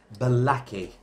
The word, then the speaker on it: Bolaki: Let's interview this lovely gentleman all the way from a brand new product called Bolaki. Did I pronounce it right?